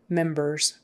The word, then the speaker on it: members: founding members in members members with a z sound on the end I'm not sure why oh because ER is kind of like a vowel sound even though you see an R there ER is more like a vowel sound therefore the S is a z z members in